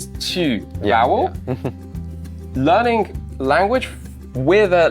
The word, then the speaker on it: 去: Q.